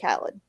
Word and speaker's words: Khaled: i know how to say his name dj khaled because he says it in every song that